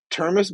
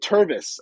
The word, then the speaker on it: Tervis: out with some like small lower stuff uh termis bottle terms okay I guess I guess so but like no I said Tervis uh Tervis um Tervis cup uh t-e-r-v-i-s Tervis